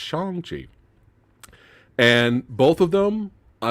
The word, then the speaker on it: Shang-Chi: say it correctly um i've been saying shang chi for years but it's shangji and both of them